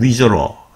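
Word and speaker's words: Missouri: 근데 철자를 보면 미주리 때는 미주리라고 읽어야 할것 같지만 토박이들은 위저러.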